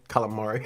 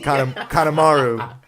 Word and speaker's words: Kanemaru: Calamari. It's Kanemaru. Get your pronunciation right.